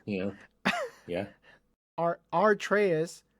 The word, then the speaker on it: Atreus: working on a game in which the character Atreus, our Comrade, you making me fucking... I'm making you say it the correct way. Is what I'm making you say it. Atreus. But go ahead. Yeah. Atreus.